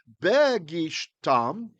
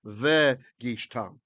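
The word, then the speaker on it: וּבְגִשְׁתָּם: next word, the begad kifat rule makes the weak dagesh fall away from the bait. So if this had said begishtam, it would have meant the exact same thing as vegishtam. It's just a pronunciation issue.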